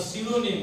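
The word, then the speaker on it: pseudo: news London bye अ सिडोनिम सिडोनिम means force in physics physics मध्ये पी पासून start होते पी एस इ यु डी O spelling is सिडो पी एस इ यू डी ओ सिडो force सिडोनिम सिडोनिम means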